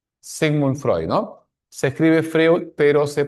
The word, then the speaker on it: Freud: Se escribe Freud, pero se pronuncia Freud, ¿ya?